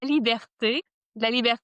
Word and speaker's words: Liberté: Libert is French and it is basically it's the same as freedom.